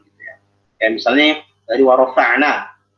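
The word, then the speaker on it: وَرَفَعْنَا: Kayak misalnya dari warofa'na, yang paling rentan tebal itu nunnya. Ya, jadi dibacanya yang tebal itu hanya huruf ro. Ya kan? Sementara fa ain nun tipis, nggak boleh kita baca warofa no loqawid rof. Kalau semua itu warofa no itu udah tebal.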